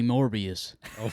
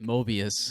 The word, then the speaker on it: Morbius: There's a guy in our shop, and he loves Morbius. He was head over heels for And Morbius. you know what? He even pronounced it wrong, like Mobius.